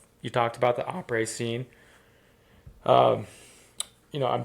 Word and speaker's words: après: say après s? Yeah. And I heard I've heard people say après and après s. So, it's après. The S is silent. The A is a soft A.